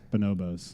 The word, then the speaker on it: Bonobos: It's Bonobos.